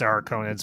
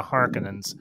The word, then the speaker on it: Harkonnen: are they as they i always pronounce are conan's but as they as they call them the harkonnens yeah yeah whatever they